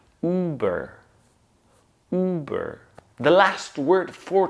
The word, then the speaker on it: Uber: Then we connect it to the second half of this word, which is burr. Burr. Once again, it's just a consonant cluster, b and together, burr. So when we put two and two, or these two halves together, we get Uber.